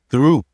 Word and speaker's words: through: d mais avec le th en anglais tu sortes un petit plus ton langu c'est derrière ton dente. Regarde. D mais th c'est through.